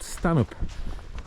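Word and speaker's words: Stanhope: front of us is called Stanup it's spelled Stan Hope and it's kind of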